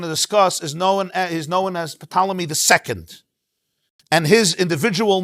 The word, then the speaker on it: Ptolemy: Now, Talmei, it is Ptolemy.